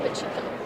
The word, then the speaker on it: Pacheco: Pacheco. Not Pacheco. Pacheco.